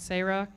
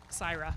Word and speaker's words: Cyra: The Kiwanis Turnaround Scholarship Awards goes to 4 names: Marissa Flores, Liliana Ortiz, Veronice Ramirez, and Sarah Calvario. Please stand. Sarah. Syra.